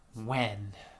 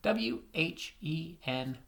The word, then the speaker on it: when: and it's pronounced whoa just as if the h wasn't there this h is silent so when sometimes words